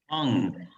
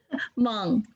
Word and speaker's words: Hmong: Williams, Hmong, the H is silent. Hmong. Hmong, so it's Hmong.